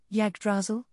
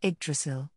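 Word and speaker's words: Yggdrasil: I hear that you the journey here from your homeland, Yagdrazzle, all by yourself. Is that correct? Iselk asked while cutting off a piece of bore and slipping it into his mouth. It's<unk>s pronounced eggdrasil.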